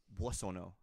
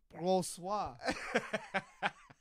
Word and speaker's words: Boissonneau: How do you pronounce your last name? Boissonneau. Oh, okay, that makes more sense. Because I've been pronouncing it Brossois.